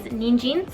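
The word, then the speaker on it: 人参: little bit and the word for carrots is ninjin so if you studied any kanji you know that the kanji for person has a couple of different readings and two of those readings are neen and jean so in my mind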